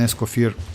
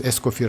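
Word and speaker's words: Escoffier: Because actually Escoir is like French and according like it's kind of like you don't need to pronounce that R at the end, right?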